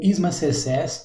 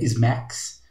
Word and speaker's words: SMACSS: Bom, o ISMA CSS, na verdade se pronuncia SMAX, ele é uma abreviação para Scalable Modular Architecture for CSS, que é uma arquitetura escalável e modular para CSS.